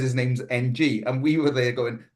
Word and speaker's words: Ng: he says his name's NG, and we were there going, oh no, but I had a Vietnamese friend who once told me the way to pronounce NG was Ung, but no one went with it.